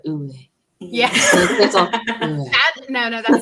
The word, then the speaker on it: Uwe: Sometimes like people go heavy on the V and sometimes they don't. I'm just like, I like a nice in between the Uwe.